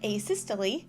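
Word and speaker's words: asystole: just taught me something i have no idea if i'm saying that right but anyway here's as he stole well i guess we learned that it's pronounced a systole learn that now i'm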